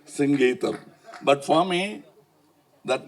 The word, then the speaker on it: Singeetham: and all in Kamagam there was always a confusion how to pronounce his name he used to get very upset because Mr. Sangeam. No it is singam please.